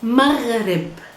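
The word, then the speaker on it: مغرب: pronounced in Arabic as maghrib. Maghrib. Maghrib. Not maghrib. Maghrib. Maghrib. It's very difficult to pronounce because there's the ghain, letter ghain.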